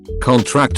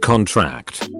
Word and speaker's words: contract: Stress on the last syllable is a verb. Examples: contract and contract. The former is a noun, sign this contract, whereas the latter is a verb, the muscles contract.